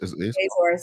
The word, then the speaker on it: Azores: Did I pronounce that right? Azores? Azores, yeah.